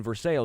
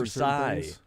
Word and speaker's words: Versailles: If I'm talking about the one in Kentucky, I'm saying Versailles because that's how it's pronounced there. If I say it in over the seas, So there's different ways of pronouncing Versailles.